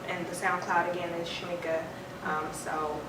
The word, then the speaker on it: Shameeka: shm well not simply it's shmika it's spelled with two e sh sh a m e e k a uh and I I